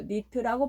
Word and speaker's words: 1337: 결국 그는 새로 개발한 엔진에 코딩 세계에서 유행하는 밈을 이용해 1337이라는 이름을 붙이고 니트라고 발음하기로 했다.